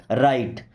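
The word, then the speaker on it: write: You means होता है आप या आपको मस्ट राइट। देखिए राइट का मतलब होता है लिखना। यहां पे डब्ल्यू साइलेंट होता है।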